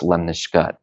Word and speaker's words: lemniscate: It's spelled a little more lemniscate, but it's pronounced lemniscate.